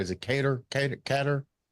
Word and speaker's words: Ketter: Like to welcome to the show all the way from Philly, Cat Keter. Did I pronounce the last word right? Is it Kater?